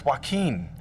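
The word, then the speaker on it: Joaquin: No, it's Waqen. Oh, Wen.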